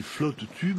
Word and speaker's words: float tube: de silhouette sont des flot tub on prononce aussi flot tube dans les clubs de